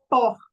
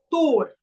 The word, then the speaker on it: Thor: falou no grupo que a pronúncia correta do nome de Thor era poror aí eu falei que não que ele tava equivocado que era tor porque a essa letra